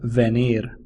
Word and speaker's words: venir: home to be near be near sounds like venir the Spanish verb for